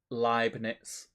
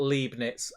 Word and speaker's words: Leibniz: Frederick says, not Leibniz. Pronounce it like lie in the beginning. E-I in German is pronounced I, like Eij in Dutch.